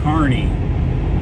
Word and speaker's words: Kearney: the city of kearney it's k-e-a-r-n-e-y pronounced carney as in a guy that works for a carnival they've got this overpass